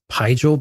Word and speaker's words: Pijal: They pronounced it as Pijal, but it also depended if you had an English or something near akin to that, they would pronounce it a bit more like what you just did. But Pijal was kind of the basic one.